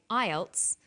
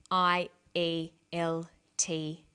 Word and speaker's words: IELTS: is called an acronym with an acronym we don't pronounce the individual letters we pronounce it as a word so we say IELTS not I a el-tee yes some other examples